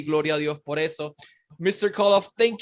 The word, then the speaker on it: Gloria a Dios: I would say this, Gloria a Dios. Did I say it right? Yeah. Gloria a Dios.